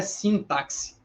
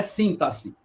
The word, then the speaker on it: sintaxe: que seria então passe Olha a pronúncia não é sintaxe sintaxe não é sinta-se Ou sintaxe Olha é uma paroxítona tá é citar tá E esse x não tem som não tem um som aplicado tá sintaxe ele não tem esse som tá como em táxi na ideia de fono tá a gente não tem essa pronúncia aí a gente tem sintaxe como se o x tivesse valor de ss tá sintaxe porque assim